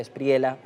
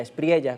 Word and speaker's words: Espriella: de Colombia, el señor Abelardo de la Espriela o de la espriella, como también se pronuncia su apellido, bajo la éjida de